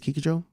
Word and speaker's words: Kikujiro: I think it's Kikujiro. That's how you say it.